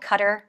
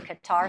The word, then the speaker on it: Qatar: in place for Qatar, also called Qatar, which I think is actually the correct pronunciation, but everybody in the Western world calls that country Qatar, so it is what it is.